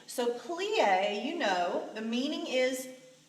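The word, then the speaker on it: plié: the bar start with plie so let's look how to spell it pl/i with this accent that tells us the sound that the e makes is an a sound a lot of French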